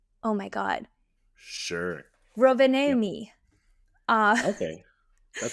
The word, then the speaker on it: Rovaniemi: and then they went to, and I wanna pronounce this right, it's Ro Rovaniemi? Oh my god. Sure. Yep. Rovaniemi.